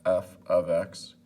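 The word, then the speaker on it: f(x): So again, this is pronounced f of x.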